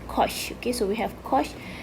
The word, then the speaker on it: cosh: the exponent form okay hyperbolic cosine is pronounced as kosh okay so we have